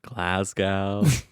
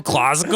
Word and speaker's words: Glasgow: Born in Glasgow. Glasgow? Glasgow? Glasgow. Glasgow. Well, There's no C in it. I feel it's hard. Well, If it's Scotland because so you have to pronounce it as if you're drunk, yeah, right?